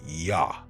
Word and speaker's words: Yah: The letter J didn't exist in the ancient world. The name is properly pronounced Yah short for the sacred name Yahawah. Notice the Y h YH. Acts 4:12 says there is no